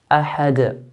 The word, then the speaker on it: أَحَد: So because it ends with a dal, we're stopping, a forced stop with a dal, a forced sukoon with a dal, we make an echo bouncing sound. Ahad, ahad, and not ahad.